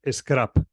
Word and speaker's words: Skrapp: caso, la que estoy utilizando más en cuanto a esa ratio calidad-precio es Scrap. Scrap, SC, ¿cómo se escribe?